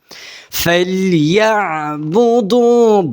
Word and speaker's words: فليعبدوا: একটু ইয়া বলবেন যখন একটু গোলা চেপে বলবেন, আইনটা গোলা চাপ দিয়ে উচ্চারণ হবে। ফালইয়াবুদু বুদু বুদু বুদু।